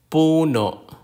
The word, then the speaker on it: puno: Nani Nani is Mother the consonant P like the p in Pat puno puno a puno is a tree